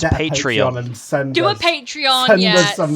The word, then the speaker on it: Patreon: for i'm paying zoey and then no it's pronounced patreon do a patreon yeah send me some money